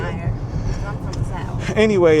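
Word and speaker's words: Meijer: See, I said it right that time. I didn't say Myers. I said Meyer.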